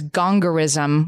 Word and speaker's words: gongorism: The word she got out on was gongorism, which is one of those annoying spelling bee words because it's spelled exactly like it sounds.